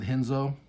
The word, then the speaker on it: Renzo: universe shout out to renzo rodriguez although i do jiu jitsu so i pronounce it hinzo but yeah i do